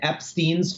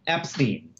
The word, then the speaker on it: Epstein: which is the family Brian Epstein's family says Epstein you know that is the way the family pronounced their name you know and the source that I that I would quote is Brian's mom Brian's mother says the way the correct way to pronounce my family's name is Epstein and the fact that everybody called my son Epstein they said it wrong yoo-hoo so you know